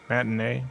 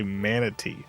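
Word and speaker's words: matinee: Today, my father and I saw um why can't I remember how this is pronounced? Matinea. Yeah, that's it. matinea. I kept wanting to say manity.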